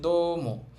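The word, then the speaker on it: どうも: এবার হচ্ছে দম। এখানেও দেখেন এই উটা কিন্তু উচ্চারণ হবে না। কারণ এর আগে একটা ও সাউন্ড আছে।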